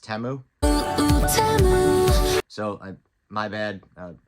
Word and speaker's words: Temu: Super Bowl ad, I actually found out it's pronounced Temu. So my bad, Temu, I didn't know how to pronounce it.